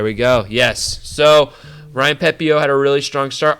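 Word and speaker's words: Pepiot: the new new guy Ryan pepio not pepot pepio I just learned that last week so I'm going to try I'm trying to say it right Ryan pepio faced against the blue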